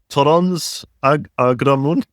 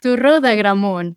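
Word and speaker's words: Torró d'Agramunt: Torrons agramun. Have I massacred Turro, that completely? yeah. It's pronounced Turro de Agramunt.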